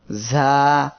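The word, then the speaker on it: ظ: এর মাখরাজ হলো জিহ্বার আগা, সামনের নিচের 2 দাঁতের পেট ও আগার সঙ্গে লাগিয়ে ঝা উচ্চারিত হয়।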